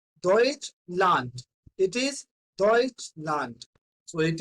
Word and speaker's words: Deutschland: Remember this thing that if we are having D at the end, it will sounds like T. It will sounds like T, or in Hindi, you will call it a Ta. Okay? So it is Deutschland.